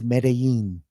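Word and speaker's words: Medellín: last name oh alex you've mispronounced that with the two elves it's not lin exactly correct have you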